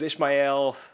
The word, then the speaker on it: Ishmael: Moby Dick but was Ishmael like Ishmael Ishmael Ishmael it's Ishmael Ishmael don't you dare say Ishmael it might even it's probably correct but yeah cuz it's three syllables Ishmael but it's so pretentious